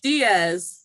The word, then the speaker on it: Diaz: s e Doctor how do you say your last name Diaz yeah Diaz yeah so that's my